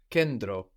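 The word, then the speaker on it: κέντρο: you can hear both you can hear it like ND or like d to kendro toed so this is spelled k e n which looks like a v no t T it's spelled with the T R O So n t together inside of a word is going to give us a d or an n d not a t tokro or tokro not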